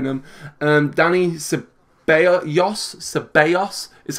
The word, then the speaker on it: Ceballos: to keep wearing them and Danny Bayer yas ceballos is how you've taught me to pronounce it so I will remember but mail